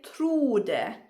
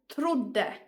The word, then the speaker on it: trodde: If you would write it like this, for example, then the O would become long and we would say trode, trode. However, the correct way is with the de, and then we have two consonants that are the same, so the emphasis goes there and the O becomes short. So here the pronunciation is trodde, trodde.